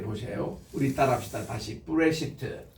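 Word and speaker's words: בראשית: 다시 브레시트. 자, 우리 그 복서관에서 우리 따라합니다. 베이스, 레시, 알레프, 신, 요드, 타우. 그래서 브레시트라고 읽습니다.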